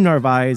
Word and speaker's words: Narváez: a little tricky but the name narvaez is understood to have two syllables and it might help us english speakers to break it down into the sound's narv and eyes sue anderson is a